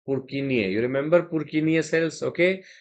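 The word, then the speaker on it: Purkinje: Jutting out cells are the perkingi cells or their real pronunciation is purkinia.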